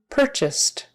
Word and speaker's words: purchased: purchase purchased purchased so the past tense has a t sound on the end even though it's spelled with an ed often those words with